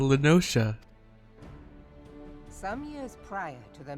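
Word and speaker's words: La Noscea: south tidegate in western lanosha half stone it was called it's pronounced lenosha i thought it was a little scare well then all right it's called linosha some years prior to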